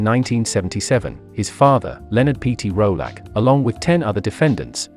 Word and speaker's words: Rollack: peter rolac sometimes pronounced rolok was born in 1975